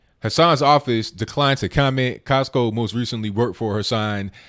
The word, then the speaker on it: Cosko: Cosko, not the store. His name is spelled Cosko, 27 years old, for posting addresses and private information of senators, according to the police department.